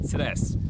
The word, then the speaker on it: Cres: We'll start with the wonderful island of Cres. In case you wonder, the island of what? Let me help you with pronunciation by giving you the island's motto, which says "No stress on Cres."